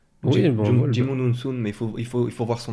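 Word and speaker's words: Djimon Hounsou: Jimon Unsun. Non, pardon. Jimon Unsu.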